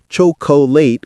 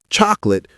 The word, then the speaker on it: chocolate: Word four, chocolate. Not cholate with three syllables. It's chocolate with two syllables, fast and compressed.